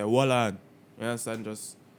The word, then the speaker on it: Wollan: and Skilly Bang with, I'm guessing it's Wallan. You know what I'm saying? Like, that's the only way I can see to pronounce that. Wallan. Jamaican term, you know what I'm saying? Like, hold on, but we say Wallan.